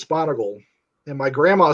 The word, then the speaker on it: Sponaugle: It's pronounced Sponaugle, I think. Sponaugle, yeah. It wasn't here at the start when we covered that. But thanks for stopping by, my man. Yeah, but see, I say Sponaugle, but my dad says